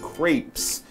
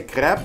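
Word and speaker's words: crêpe: english american english pronunciation crepes but yes french people would say crap you could also say crap and you might actually want to leave the s well the french people wouldn't say the s i gotta relearn what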